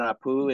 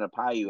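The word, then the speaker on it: Aupiu: Notre Dame transfer, but Devin Apu is another guy. Or Devin Apayu, I believe is the pronunciation there, but he has an opportunity to do some things.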